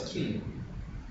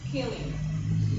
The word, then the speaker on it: killing: No es killing. Fíjate, hay una I latina. ¿Cómo se dice? Killing. Perfect. Es una I latina, so no es killing.